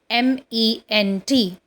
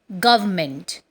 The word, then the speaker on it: government: The fourth word which we are going to learn today is Government. In this, R and N are silent and it is pronounced as government.